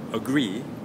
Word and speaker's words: agree: hear that ugly now for agree we'll put the stress on the second syllable agree agree okay so it should sound